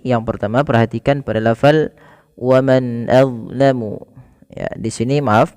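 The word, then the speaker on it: وَمَنْ: Ini kami salam memberikan tandanya yaitu kita namakan di sini hukum tajwidnya berupa bacaan izhar halqi. Yaitu dengan memperjelas bacaan suara nunnya diperjelas dengan baik.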